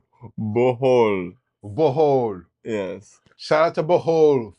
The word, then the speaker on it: Bohol: Shout out to Boho, Philippines. You know what I mean? I'm saying it right? Bohol. Bohol.